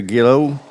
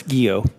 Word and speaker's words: Guillot: Southern command General Gregory gillo how do you pronounce that chairman it's guo guo thank you all right